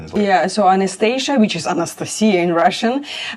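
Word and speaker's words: Анастасия: It's like Anastasia is Anastasia in Russian.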